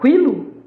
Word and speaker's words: quilo: Você fala quilo? Não, né? Então, olha só. Esse U não é pronunciado, tá?